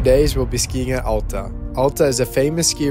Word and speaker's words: Alta: No, there's no wrong way, but we just say Alta. Most people say Alta.